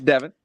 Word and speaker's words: Devin: Is it Devin or Devon? I want to say it right. It's Devin. It's Devin.